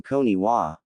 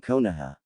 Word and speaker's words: Konoha: Any news from Koniwa? He asked, mispronouncing Konoha.